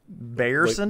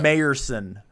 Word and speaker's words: Mayerson: And also, the AI got his name wrong, and Barney Mayerson corrected him because he called him Mr. Bayerson. Like Bayerson he's like, or something. My name's yeah. Mayerson.